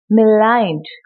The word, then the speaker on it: maligned: அடுத்த வார்த்தை maligned, maligned, M-A-L-I-G-N-E-D, maligned, M plus aligned, maligned அப்படின்னு தான் ப்ரொனவுன்ஸ் பண்ணோம்.